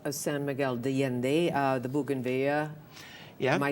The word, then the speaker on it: bougainvillea: So as you walk the streets of San Miguel de Allende, the bougainvillea, am I saying it right?